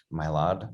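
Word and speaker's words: Mylod: in italy they were both directed by mark mylard am i pronouncing that right yeah monologue yet it's basically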